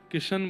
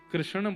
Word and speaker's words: कृष्ण: नाम कृष्ण रखा गया कृष्ण इस शब्द का उच्चारण कई लोग शुद्ध नहीं करते क्योंकि शुद्ध कर लेंगे तो फिर भगवत प्राप्ति हो जाएगी इसलिए सब लोग इस नाम को कोई किशन बोलता है कोई कृष्ण बोलता है कोई कुछ बोलता है